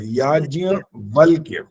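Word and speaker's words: याज्ञवल्क्य: जो मुश्किल है वो याज्ञ वल्क्य है, वो याज्ञ वल्क्य। हाँ, वल्क्य। हाँ, अब ठीक है। ठीक है, धन्यवाद। वल्क्य बोलेंगे, वल्क्य बोलेंगे तो गलत हो जाएगा वो। याज वल्क्य। हाँ, याज्ञ वल्क्य।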